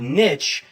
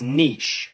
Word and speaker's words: niche: It's not niche, it's niche.